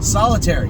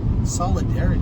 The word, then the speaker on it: Solidarity: Solitary. That's not his name. Solidarity. I've been saying it wrong the whole time.